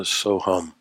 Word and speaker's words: Soham: And the mantra that we are going to use is the mantra Soham. And if we were going to transliterate it, we would spell it S-O-H-U-M.